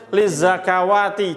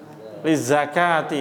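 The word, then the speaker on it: لِلزَّكَاةِ: Jadi ini alif kecil bukan fathah berdiri. Jangan bacanya lizzakawati. Jangan. Oh salah. Ini mushaf apa? Madinah. Madinah. Bukan mushaf kemenak. Kemenak. Bisa dipahami? Berarti apa bacanya? Aman ya? Lizzakati bacanya panjang dua harakat.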